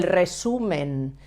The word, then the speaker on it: resumen: This means el resumen.